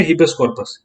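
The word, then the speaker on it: habeas corpus: जैसे इसको प्रोनाउंस करो, इसको हिबेस कॉर्पस बोलते हैं, ठीक है। हिबेस कॉर्पस स्पेलिंग देख ले एक बार, ठीक है। HABE है, HABE, ठीक है। क्योंकि प्रोनाउंसिएशन कुछ और आती है इसकी और स्पेलिंग कुछ और आती है, तो कंफ्यूज हो जाते हैं इसमें।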